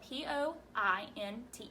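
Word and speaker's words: pointe: of your toes and this point isn't like a point at you that's not the way it's spelled it's spelled p o i n t e point and so we're gonna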